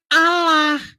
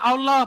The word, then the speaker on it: Allah: Makanya itu bacanya bukan Allah, Allah. Kalau hurufnya alif lam lam ha. Hm. Dibaca Allah.